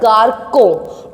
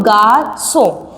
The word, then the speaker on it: garçon: Without this accent we will pronounce that word garçon. But when you will put the accent, that is sidel, it become garçon.